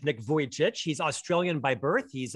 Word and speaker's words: Vujicic: sure so nick's last name is difficult to pronounce for many uh i'll i'll refer to it as nick vojcich kind of like a voyage nick vojcich he's australian by birth